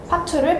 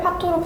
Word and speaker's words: 파투: 야반도주를 야밤도주로 잘못 사용하는 것, 파투를 파토로 잘못 발음하는 것을 활용한 만화를 저희는 제작하였습니다.